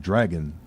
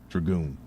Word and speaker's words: Dragoon: R Us was Panzer Dragoon Saga. But I remember the lady behind the counter was confused because she kept telling me Panzer Dragon Saga. And I'm like, no, ma'am, it's Dragoon. 2 O's.